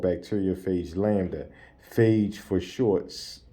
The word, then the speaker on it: phage: virus called bacteriophage lambda, phage for short, pronounced like cage.